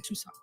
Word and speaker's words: Tucson: those metropolis, and then Tucson. Right. Yeah. And 90% of the people don't know how to pronounce Tucson. No, they don't. They say Tucson, Tucson. not Tucson. Yeah.